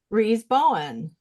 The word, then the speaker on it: Rose Bowen: So I am reading my first one by Rose Bowen. Is that how you say her name? Yeah.